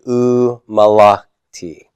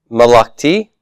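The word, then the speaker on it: ומלכתי: And if you put your accent on the T part instead of the la part, malakti, that would be okay as well, because sometimes you will see that accent on the final syllable in WCP forms.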